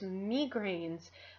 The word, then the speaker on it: migraines: things anxiety disorders Alzheimer's me grains and or migraines as it's pronounced in Canada we call me grains here and fibromyalgia and having